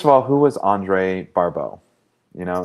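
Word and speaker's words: Barbault: So, first of all, who was Andre Barau? You know, in French, his last name is pronounced Barau.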